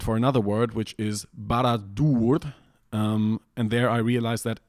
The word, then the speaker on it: Barad-dûr: a double consonant, and it would have to be Barad-dûr, and that just sounds stupid to me. It has to be Barad-dûr, and that means we